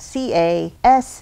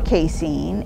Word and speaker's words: casein: It's spelled C-A-S-E-I-N, Casein.